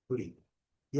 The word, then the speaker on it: gripe: E aqui, gripe, gripe, gripe. Coloquei também o U aqui para não deixar a gente pronunciar. A palavra escrita é nossa gripe, mas não tem nada a ver. Tá? Observem a pronúncia gripe, gripe.